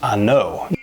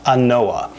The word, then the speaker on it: An Oa: this whiskey is that it's pronounced I know I know not inoa and you know let's